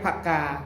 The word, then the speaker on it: ผะกา: ก็ คือ ปากกา ถ้า ภาษา กลาง เรียก ผะกา ผ่อ ผึ้ง นะ ครับ ออก เสียง เป็น ผอ ผึ้ง ผักกา ถ้า ทาง นี้ เรียก